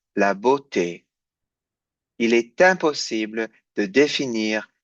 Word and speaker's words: beauté: And this one, E-A-U, you know is pronounced O. And then this one is E. Donc, je répète lentement. Il est impossible de définir la beauté.